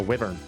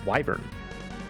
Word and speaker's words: wyvern: A wyvern. Here's a question. People out there, did you pronounce that word as wyvern or wyvern when you were growing up? I always said wyvern, and I was always wrong.